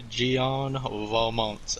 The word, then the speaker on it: Gian Valmont: I think the only thing I picked up from this match was literally how to say his name, and the commentator did a brilliant job of saying his name, Gian Valmont.